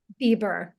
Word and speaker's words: Bieber: How do you pronounce it? Is it Bieber? Bieber. Bieber. Okay.